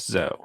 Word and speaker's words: Zoe: It's Zoe, pronounced Zoe. Pronounced Zoe, so Yes. like oh, but like with a Z.